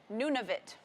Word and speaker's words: Nunavut: She says it's Nunavut. That is the other territory. See, there we go. She even wrote it phonetically for me.